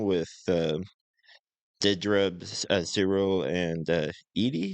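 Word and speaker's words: Eedy: dinner party thing with um Dedra Zero and Edy. How How do you pronounce it? Edie.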